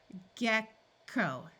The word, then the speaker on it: gecko: Remember, when a syllable ends in a vowel, we try the vowel's long sound first. And we've been practicing that with our nonsense syllables. Gecko, gecko.